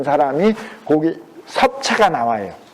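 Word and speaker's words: 葉: 그 섭자가 잎사귀 엽자인데 요새 전부 사학자들도 이걸 엽이라고 읽어. 그건 한자 자전으로 읽는 거지. 근데 논어에서 반드시 인명을 쓸 때에는 특수성으로 그거는 섭이라고 그랬어요. 논어에 섭공이 나와요. 엽자인데 섭이라고 불러.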